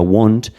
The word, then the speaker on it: want: a, sino se pronuncia want. repasemos porque después si yo tengo una a que la antecede o la precede una w, esa a tiene la tendencia a volverse una o en pronunciación.